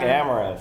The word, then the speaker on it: Amaranthe: the Georgia accent Amar Amar I I like amaran it's a really good very good we have now learned how to uh pronounce amra and when you're talking about the